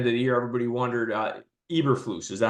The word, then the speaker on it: Eberflus: And, you know, another team, you know, we were talking in the leading up to the end of the year, everybody wondered, Eberflus, is that how you say his name?